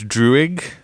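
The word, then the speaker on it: Druig: Um I think philosophically or morally the 1500 AD one where I think it's pronounced Drewig the character who he can control people where we're seeing people like genocided.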